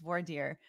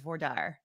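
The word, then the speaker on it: voir dire: federal court they said if you're in federal court it's war dear but if you're in state court it's vordar wardar what else it's wardar yeah uh you can't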